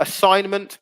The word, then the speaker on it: assignment: So Tilda, assignment. Brilliant. Brilliant, Tilda. That's another one. Yeah. Silent G and assignment.